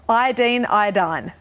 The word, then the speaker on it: iodine: You know, we know that one pronunciation is American, the other one is more English. What is correct in Australia? Iodine.